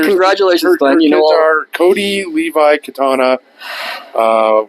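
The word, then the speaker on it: Kattana: kids are Cody Levi Katana uh like katana like the katana like the like the weapon no it's spelled different k a TT A N A anyway then there's Wyatt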